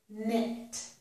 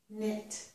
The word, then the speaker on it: knit: And in this word, the K is silent. This is knit, knit.